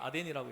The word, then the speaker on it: 아덴: 지금은 아테네죠. 아덴이 성경에는 아덴이라고 이렇게 발음해요.